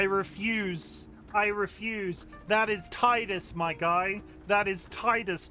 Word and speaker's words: Titus: very beginning identified that he was called Titus and I will never accept anything different. In the original trailer, the narrator applied it um the original narrator pronounced it wrong. He said Tedus.